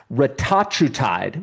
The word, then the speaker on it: retatrutide: And last but not least, I think this is a peptide, but I've been hearing about let me pronounce this, retatrutide, which is an experimental weight loss and metabolic drug being developed by Eli Lilly.